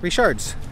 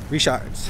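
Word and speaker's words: Richard's: then probably eat at richards i was calling richards but bobby told me the right way to say it reshards on the next episode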